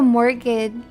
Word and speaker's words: mortgage: Mortgage. Why is there a T in there?